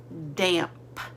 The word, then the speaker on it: damp: Say damp. Damp. What do you hear at the beginning? It's not a B, it's a D.